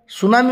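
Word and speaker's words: tsunami: पी अच्छी पिनोमोनिया हो ना ना सुनामी टी अच्छी टुनामी कहे कि टुसुनामी आम कहे कि ना तो सुनामी बोली कहले इट T remained silent T इज not pronounced in this word तेणु लेटर नॉट प्रोनाउंस्ड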